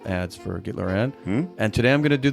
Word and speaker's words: Gitler&: When you spell it out, it's Gittler and blank, but it's pronounced Gittler and.